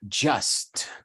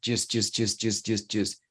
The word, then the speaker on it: just: Uno generalmente lo pronunciaría just, como en el eslogan de Nike, just do it, ¿ya? Pero aquí es just.